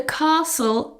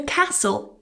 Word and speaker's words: castle: You can pronounce this with a long a or a short a. You will find the a the castle pronunciation used more in the north of England while a castle is used more in the south of England. However, they both have a silent t.